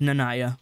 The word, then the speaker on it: Naya: forgive me dearest Naya there it is pronounced Naya the emphasis on the first that is speared through